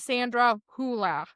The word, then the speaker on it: Sandra Hüller: much on there, and her name is Sandra Hüller, and I Yeah. imagine that's how they say it in German.